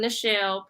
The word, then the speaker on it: Nichelle: For those that don't know me, I am Nichelle, pronounced like Michelle, and I'm the creator